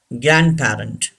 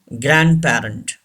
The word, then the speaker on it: grandparent: Grandparent. Say this word. Grandparent. D should be silent. Don't say grandparent. The word is grandparent.